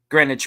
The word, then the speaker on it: Greenwich: What how do you pronounce that? Greenwich Mean Time.